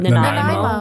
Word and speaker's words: Nanaimo: Nanaimo.